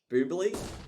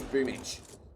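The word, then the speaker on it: Boombl4: Like, you know, Boombly, like people call Boomich Boombly, but his name's Boomich.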